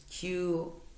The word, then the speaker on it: qigong: So as the energy, your chi moves up, start doing qigong. That will help move your energy around a little bit. It's Q-I-G-O-N-G. I believe that's how you spell it.